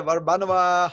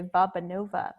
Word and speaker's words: Varbanova: one and only Barbra Nova how you doing I'm doing so well I'm so impressed by your pronunciation of my name people usually say babanova so thank you we